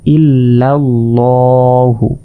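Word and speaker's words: إِلَّا ٱللَّٰهُ: তাহলে ইল্লাল্লাহু এখানে কিন্তু আমরা লা বলবো না। এই বিসমিল্লাহি এখানে জের থাকার কারণে লা বলেছি। আর এখানে জবর থাকার কারণে ল এভাবে উচ্চারণ করব।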